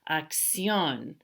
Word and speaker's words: acción: They end in the letter N. The stress isn't on the second to the last syllable. It's actually on the last syllable. So that's why we have to put the accent mark there. That's why we were saying acción. The accent mark is telling me to do that.